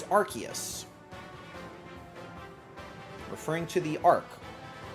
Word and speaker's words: Arceus: try to remember it's Arceus. I feel like they've changed the official pronunciation at one point where they had the movie about Arceus and they called it Arceus, and now they say Arceus.